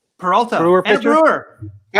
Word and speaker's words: Peralta: Come on, And I got Freddie Palatau. I don't know how to say his last name. Peralta.